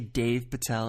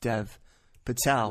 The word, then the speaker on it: Dev Patel: but he would say Dave Patel instead of Dev Patel well apparently to Hindi speakers they do pronounce Dev as Dave I'm not going to